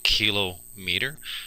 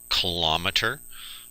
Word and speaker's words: kilometer: r e um sometimes we get a little bit sloppy with our our pronunciations and we say things like kilometer um but the proper pronunciation here is kilo meter kilometer.